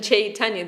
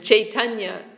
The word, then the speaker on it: Chaitanya: Sri Krishna Chaitanya, this is the name of Mahaprabhu, but it means Krishna consciousness. Because Chaitanya, I'm saying, the Bengalis will say Chaitanya. They don't pronounce the Y.